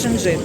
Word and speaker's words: Шенджин: Мені подобається Шенжин. Я йду Шенжин. Правильно, до речі, наголос Шенжин.